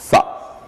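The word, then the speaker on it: ث: Et pour cette lettre-là, le Tha, nous avions dit que pour le prononcer, il faut mettre la langue entre les dents et faire comme si on devrait dire en français « ça ». Comme ça, on va dire « Tha ».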